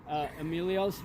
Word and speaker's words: Emilios: So Emilios. Right? Okay, yeah, you said it right. That's right. Just like the actor, I always say, just like Emilio Estevez.